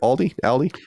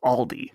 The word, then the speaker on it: Aldi: Aldi? Micah always says Aldi, and I've heard that every once in a while. My understanding it is Aldi.